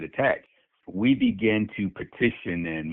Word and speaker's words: ATAC: So we formed a group called Avenging the Ancestors Coalition, ATAC, and we pronounce it attack.